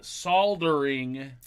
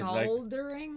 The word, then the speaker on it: soldering: supposed to the sound the L is clearly silent I didn't even know